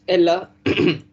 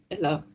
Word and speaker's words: ella: It's Ella. 6 is Ella. Ella es mi amiga. Ella es mi amiga. I told previously also double L is generally pronounced as ya sound.